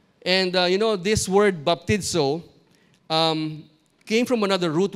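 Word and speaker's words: βαπτίζω: definition immersion so baptizo is that's how it's pronounced baptizo it's defined as to dip regularly or immerse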